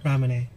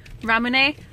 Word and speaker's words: Ramune: Anyway, we all got, how do you pronounce this? Ramune. Ramune, which is delicious.